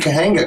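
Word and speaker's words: Cahuenga: I'm glad somebody said Kahena correctly. Yeah, cuz I can't even say it correctly. Kawena.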